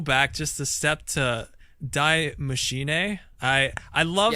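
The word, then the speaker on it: Die Maschine: isn't it no it's it's D it's German D machine I can't stop seeing flash Houston just trailer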